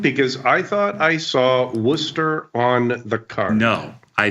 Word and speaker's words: Worcester: Or if you want to be really authentic, the way you pronounce it from when you're from Fitchburg is Wista.